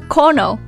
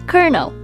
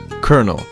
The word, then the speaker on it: colonel: it isn't actually pronounced Kono but actually it is pronounced Colonel yeah it is not pronounced yeah well if you pronounce I don't know based on spelling but it's actually pronounced kernel what often pronounce some